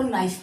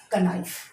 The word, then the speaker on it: knife: कनाइफ। यानी कि ये तो भाई साइलेंट है, इसके लिए यहाँ पर मतलब कोई उच्चारण नहीं है।